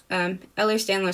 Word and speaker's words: Ehlers-Danlos: How to pronounce Ehlers-Danlos? Ehlers-Danlos syndrome.